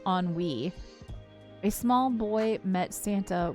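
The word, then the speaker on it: ennui: A we found out enui is actually pronounced onw wei.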